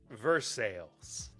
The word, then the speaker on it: Versailles: and then of course verse sales the most incorrectly pronounced city in Kentucky no no no no in English not not English kenty in in Kentucky we don't have no Louisville we ain't got no Versa we ain't